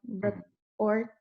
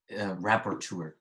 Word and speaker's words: rapporteur: Yeah, reporter, is that how you say it? Rapporteur.